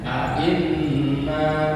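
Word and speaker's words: أَإِنَّا: Nah itu ya, a'inna ketika ada nun bertasydid bacanya harus benar-benar jelas. A'inna seperti lafaz al-Kautsar, inna bacanya. Jangan inna, tapi harus dipertegas, bahasanya pertegas.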